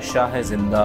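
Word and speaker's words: Shohizinda: उसके बाद एक बहुत ही अहम जगह है शाह जिंदा, शौही जिंदा इस तरह प्रोनाउंस करते हैं उज्बेकिस्तान में।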